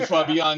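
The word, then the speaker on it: Fabián: Only my mother called me Fabian, even when she was speaking English. Se necesita un acento en la A.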